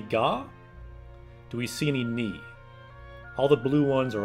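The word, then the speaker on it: に: So we see Ni. That's how you pronounce that hiragana.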